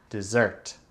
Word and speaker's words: dessert: C'est le deuxième syllabe qu'il faut faire plus fort que l'autre syllabe.